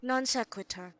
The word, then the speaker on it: non sequitur: Sequitur é pronunciado assim, desse modo. Non sequitur.